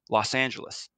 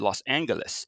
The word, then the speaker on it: Los Angeles: put together and they proclaimed an official pronunciative pronunciation of the city and the winner was Los Angeles Fletcher bowron himself might have been a little dismayed because he was a hard G man he said Los Angeles so he the mayor even had to say